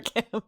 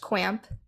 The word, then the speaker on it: Qamp: That's camp with a Q, but not pronounced Qamp. Just camp.